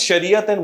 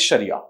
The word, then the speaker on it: Sharia: it is pronounced as Sharia if there's a word subsequent to it it becomes shariath if there is a stop at the end then the T sound is dropped and it becomes Sharia both words mean the